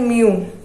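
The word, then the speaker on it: mu: इसे बोलते हैं म्यू, इसकी प्रोनाउंसिएशन है म्यू।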